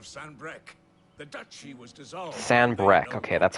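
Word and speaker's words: Sanbreque: Sanbrec, okay, that's how the singular of that is pronounced.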